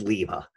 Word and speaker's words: Lima: it mispronounced the word Lima not not a huge surprise you know if not not particularly surprising that the Amazon Pali text-to-speech pronounced it like a Lima Bean instead of like Lima Peru we'll see what we